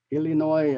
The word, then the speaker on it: Illinois: Connecticut uh Freud Hawaii Illinois Illinois um there's no s at the end the S is silent so the state of